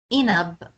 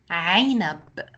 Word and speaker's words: عنب: Now, there is a common mistake that other students make when they pronounce the ain sound in a word. They make it more like an a sound, the alif sound. So it's not usfur, usfur, or inab, or ain. It's عصفور, عنب, عين.